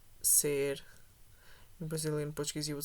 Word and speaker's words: ser: permanence, the verb is ser, not estar. The pronunciation is different in Brazilian Portuguese, and I can show it with my pronunciation. So in Portuguese, in European Portuguese, you would say ser.